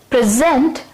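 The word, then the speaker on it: present: प्रेजेंट जब ये noun के तौर पे यूज होता है तब हम यहां पे स्ट्रेस देते हैं प्रेजेंट। उसी तरीके से एडजेक्टिव में प्रेजेंट, मगर वर्ब में यहां पे स्ट्रेस बदल जाता है। यहां पे जेंट पे हम स्ट्रेस देते हैं और इसे ऐसे प्रोनाउंस करते हैं प्रेजेंट।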